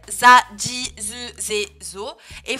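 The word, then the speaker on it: ジ: peu spéciale, parce que shi plus tenten, ça fait pas zi, mais ça fait bien ji, avec un D prononcé devant. DGI, hein, ji. DJI plutôt même, ji.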